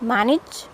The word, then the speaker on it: manage: Okay, the second A that is coming after N, it will give a sound of IH, not A. So it's manage, manager, manager, management. Okay, got it? So this is how we have to pronounce this word.